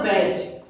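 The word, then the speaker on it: batch: यदि किसी वर्ड में टी ई एन और टी सी एच आ जाए तो वहां पे हमेशा दोस्तों टी साइलेंट होता है। यहां हम उदाहरण के माध्यम से समझते हैं। लिसन, मैच, कैच और बैच।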